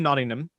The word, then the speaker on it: Nottingham: of fun, but so you do live in Nottingham.